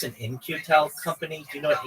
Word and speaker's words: In-Q-Tel: In-Q-Tel companies. Just one moment, and I'll give you a breakdown. Like INCU. No. It's spelled very interestingly. It's IN-Q-Tel.